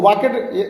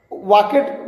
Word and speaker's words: walked: वाक, तो उसमें आपको वाकेड नहीं पढ़ना, ये गलत है। अगर आपको WAL खोजेंगे डिक्शनरी में तो वाक मिलेगा, और अगर उसमें WALKED है तो इसको वाक पढ़ेंगे, हल्का सा डॉ का उच्चारण करेंगे।